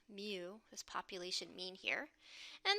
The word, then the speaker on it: mu: need to calculate our mu remember this is pronounced mu this population mean here and the way we